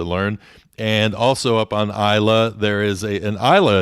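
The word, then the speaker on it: Islay: and so for a long time i was mispronouncing it calling it isla is lay no it's isla is how that's actually pronounced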